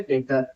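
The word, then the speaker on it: debtor: उसको बोला जाता है डेटर ई बी टी ओ आर पट लिखते हम पढ़ जाता टर ब साइलेंट पैसा जिसको देना है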